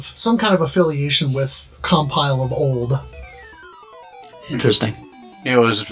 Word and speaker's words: Compile: about pronunciations then right we sound like we're all saying compile but I've heard some people say compile right like the verb right yeah like uh like if you're compiling code right I've heard people